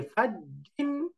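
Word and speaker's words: فَجٍّ: এরপরে আছে ফাওয়ান, ফাওয়ান, আফুওয়ান, আফুওয়ান, লিকুল্লিন, লিকুল্লিন, এই যে লিকুল্লিন, হাইয়িন, হাইয়িন, ফাজ্জিন, এই যে ফাজ্জিন, জি জি জি, একটু জায়ের মতো উচ্চারণ, ফাজ্জিন, ফাজ্জিন।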